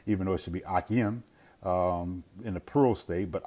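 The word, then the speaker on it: אח: Even though it should be Akim in the plural state, but Ak is a brother. And you notice that Ak, that comes from, again, a guttural, Ak, Ak. Notice the guttural at the end, Ak.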